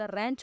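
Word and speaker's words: wrench: अच्छा, अब इसमें सबसे पहले तो डब्ल्यू है, ये है साइलेंट, ठीक है।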